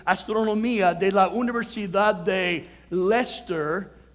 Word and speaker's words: Leicester: de física y astronomía de la universidad de leicester y se le trae light star' pero se pronuncia el estero en el este de inglaterra y estos estudios